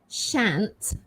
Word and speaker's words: shan't: this is a difficult one because the um pronunciation is strange um s-h-a-n apostrophe t so it's shant i shan't say it i shan't say it